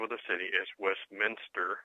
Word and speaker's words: Westminster: say it here okay it's Westminster not West Minister Westminster come on people there